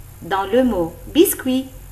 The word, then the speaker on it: biscuit: Dans le mot biscuit, on ne prononce ni le T ni le S.